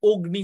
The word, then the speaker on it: অগ্নি: অগ্নি হওয়ার কথা ছিল কিন্তু এটার উচ্চারণ অগ্নি হচ্ছে অর্থাৎ অ এর উচ্চারণটা একটু স্পেশাল হয়ে অ এর উচ্চারণটা ও হচ্ছে অগ্নি হচ্ছে তার মানে এটা অ এর কি ধরনের উচ্চারণ এটা হচ্ছে অ এর সংবৃত উচ্চারণ অগ্নি দেখো এখানে গ